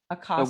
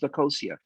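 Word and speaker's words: Akosua: Tell us about the name and why Akasa. What? The name of your album. Actually, it's pronounced Akosia, and Akosia is a Ghanaian word.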